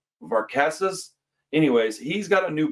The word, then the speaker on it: Varkatzas: It's Varkatzas.